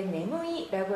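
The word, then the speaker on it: 眠い: 면자 음으로 읽을 때는 밍, 스위밍 할 때 밍이라고 읽고요. 뜻으로 읽었을 때 네무이라고 하면 졸리다라는 이 형용사고요.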